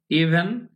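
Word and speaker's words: even: ইভেন, ভয়ের উচ্চারণটা বি এবং ভ দিয়ে মাঝখানে উচ্চারণ হবে ইভেন এরকম হয়।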